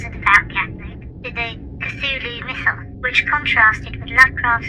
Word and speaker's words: Cthulhu: Am I saying Cthulhu right? Cthulhu. Cthulhu, not Cthulhu. Cthulhu. Apologies for mispronouncing it earlier.